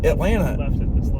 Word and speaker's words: Atlanta: And a lot of people don't know how to say Atlanta. There is no second T. Siri doesn't know how to say it. Well, I was trying to talk to Siri about Atlanta the other day, and